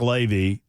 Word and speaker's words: Levy: he said it's Mark Levy it's like gravy he knows that we're dumb but we like food that's right he knew he knew if we went great no gravy I will know how to pronounce his name that's how dumb I am that's the only thing I can that I know that rhymes with Levy well plus come on